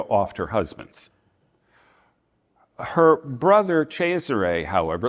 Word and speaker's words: Cesare: Her brother Cesare, however, it looks like Caesar, but it's pronounced Cesare. Her brother Cesare, however, may very well have done so.